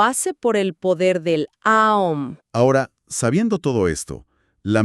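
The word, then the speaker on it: Aum: Para practicarlo, el texto indica que se eleve abrir bien la boca al principio para pronunciar la vocal A, representando esa apertura inicial. Luego, sin detener el sonido, se debe redondear la boca físicamente, formando un círculo con los labios para la vocal O.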